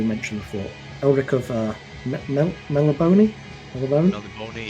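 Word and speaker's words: Melniboné: Melibone, yeah, everybody pronounces it differently, but the accent at the end maybe hints fantasy towards names.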